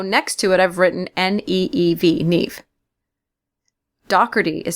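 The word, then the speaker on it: Niamh: is Nev Docker uh Nev or NE people say it two different ways is spelled n i a MH for me it is one of those Irish names that when I see it I'm just like whoa how on Earth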